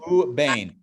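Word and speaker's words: וּבֵין: The yud is silent because there's no vowel, and then final nun. So it's u, and then bain. U, bain.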